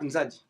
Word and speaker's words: Nzadi: C'est par rapport au lac, Nzadi. Zadi, Nzari, même Nyari, en vrai, c'est comme ça. Parce que Zahir, c'est la manière dont les Portugais prononcent ça.